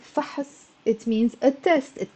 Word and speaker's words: فحص: It's a one syllable word. فحص. And it means a test. فحص. But if I put the fatha, فحص, there's a ha. فحص, it becomes two syllables.